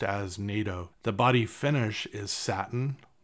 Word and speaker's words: nato: so it's used in Guitar construction and it's pronounced as NATO the body finish is satin which is okay